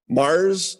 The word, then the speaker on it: Mars: I seen this place called Mars. It's Mars, like the planet.